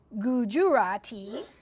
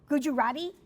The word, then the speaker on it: Gujarati: He's multi-ingual, proficient in Bengali, in Gujurati. Did I say that correctly? No, I didn't. Did I? Did I? Gujarati. Is that how you say it?